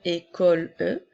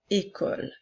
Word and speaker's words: école: Encore une fois, les deux derniers E dans le mot une et dans le mot école ne seront pas prononcés. Alors, nous ne dirons pas une école E, mais bien une école.